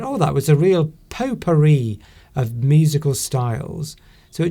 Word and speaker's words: potpourri: that was a real potpourri of musical styles. So it just means a mixture, a very different mixture of things. It's interesting how they call it, how the P-O-T, pot, is actually pronounced po, because I think that